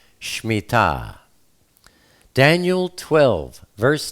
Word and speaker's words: Shmittah: Most people call it the Shmittah, but the proper pronunciation is Shmittah.